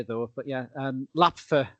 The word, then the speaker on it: LAPFF: It's a bit of a mouthful to say, though, but yeah, LAPFA, I think, is how they say it in the sort of the quick way.